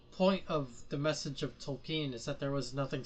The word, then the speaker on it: Tolkien: pronounce the L, you do. Okay. Tolkien.